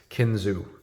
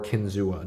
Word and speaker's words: Kinzua: my favorite knives of all time the case kinu or Kinzua depending on how you pronounce it this is uh definitely new for